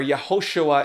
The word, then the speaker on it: Yehoshua: You see, Jesus, which would have been pronounced Yeshua or Yehoshua in Hebrew, means salvation or to rescue.